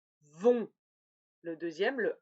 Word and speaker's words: vont: Attention, regardez bien comment ça s'écrit. Ça va? Donc le premier, c'est le O, vont.